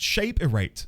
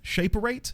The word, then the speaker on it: Shaperate: Um, it's pronounced shape erate. Shaperate.